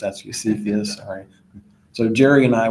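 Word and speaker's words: Cepheus: discovered I'm pronouncing that incorrectly I used to pronounce it sephus but it's actually cus sorry so Jerry and I we always were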